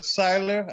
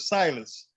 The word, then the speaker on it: Seidler: mr seiler uh i never knew it was seidler i always called him mr silas yeah then i read your book silence yeah that's it until i read your book i realized i was pronouncing i was calling him coach silas all my life and still calling him